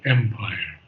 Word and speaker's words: empire: Yeah, I would say, first of all, it's empire, not empire, but on the first syllable, empire. Empire.